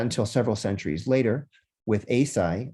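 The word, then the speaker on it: Eisai: several centuries later with aesai also sometimes pronounced yosai who was a zen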